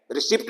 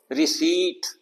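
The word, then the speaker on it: receipt: है रिसीव protein ceiling यह word देखो आप इसमें पी साइलेंट है रिसीप्ट नहीं बोलते इसको रिसीप्ट इ वाई हो सकता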